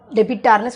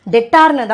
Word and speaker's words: debtor: நிறைய பேர் இந்த டெட்டாரை என்ன ப்ரொனவுன்ஸ் பண்ணுறாங்கன்னா டெபிட்டார்னு சொல்கிறாங்க. பி இட்ஸ் அ சைலண்ட், அது என்னன்னு சொல்லணும்னா டெட்டார்னு தான் சொல்லணும்.